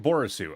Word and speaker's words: Borisu: My name is pronounced like Borisu. Okay, I assume that's I assume I said it right. Just basically my name, Boris, and you added to it.